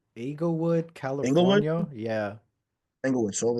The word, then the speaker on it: Inglewood: Eaglewood, Inglewood, California.